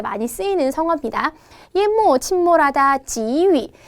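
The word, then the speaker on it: 给: 예모, 침몰하다, 지위. 이건 게이라고 안 하고 지위라고 읽습니다.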